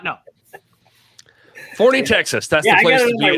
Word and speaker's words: Forney: Is it Forney or Forney? It's Forney, the place for professional wrestling, which There is we what go. the Crockett Cup is, if you did not know. Forney, Texas.